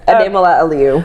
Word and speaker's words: Ademola Aliu: Please help me welcome Christy Ademola Aliu. Hi. Hi. Did I get that right? Yes, Ademola Aliu. All right. I I have people get my name wrong so I definitely share your pain but